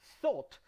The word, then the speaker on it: thought: end of a word just pronounce the t not the h not the g just the t right like when you